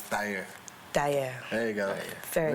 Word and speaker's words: Thair: We just said Thair with the American accent, but the dialect is Thair.